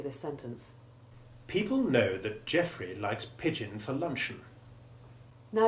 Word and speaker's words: Geoffrey: Then there is the stressed EO combination in the name Geoffrey and its abbreviation Jeff, which have the short E1 sound, while in people the sound is that of long E1.